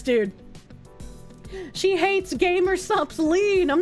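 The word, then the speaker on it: lien: for said penalty assessment I know it's pronounced lean but I don't like saying it that way so you know before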